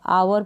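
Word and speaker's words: hour: ओ यू को आउ और आर को र, आवर पढ़ेंगे इसको, और ये आवर, इस तरीके से। एच यहाँ पर साइलेंट है, एच का यहाँ पर प्रोनाउंसिएशन नहीं होगा।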